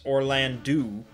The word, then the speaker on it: Orlandu: So I was right about Dysadarg pronunciation, but it's Orlandu and Zalbag, which is a little weird.